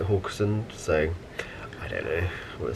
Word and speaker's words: Haugesund: and today we are at horgerson that's how we need to pronounce Hamilton the deputy Captain pronounce it hawkson so I don't know